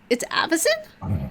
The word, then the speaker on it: Avacyn: Wait, it's Avacyn? Not Avakin.